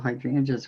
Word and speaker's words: hydrangea: And those kind of look like the little hydrangeas we're doing. Hydrangea. Drain. I've just been taught that I'm saying it wrong, so there we go.